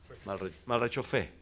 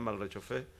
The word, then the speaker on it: Malrechauffe: Les quiero presentar a Damián Malrechov, así se pronuncia, para que todos sepan. Malrechofé, ¿ah? Damián Malrechofé.